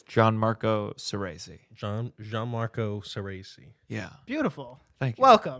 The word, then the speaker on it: Gianmarco Soreisi: Gianmarco Soreisi.